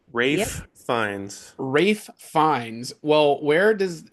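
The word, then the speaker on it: Ralph Fiennes: It's Rafe Fines. Rafe Fines. Rafe fines. Well, where does is the I guess the L is silent.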